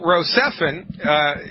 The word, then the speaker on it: Rocephin: to do here like you're gone okay well Rocephin is the correct way to pronounce it and you know it's the Pharmaceutical